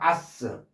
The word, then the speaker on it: ass: S가 아니라 아스. 신경을 좀 쓰셔야 돼요. 아스. 바보일 때는 즉 풀의 개념일 때는 바보. 풀 풀 바보 개념일 때는 바보라는 뜻으로 쓸 때는 바보라는 뜻일 때 쓰일 때는 아스라고 발음에요. 한번 더이이 s는 뜻이 ass. 이거는 당락이란 뜻과 바보라는 뜻 두 가지가 있어요. 당락일 때는 s로하고 바보. 바보 같은 사람 바보일 때는 아스라고 발음을 돼요.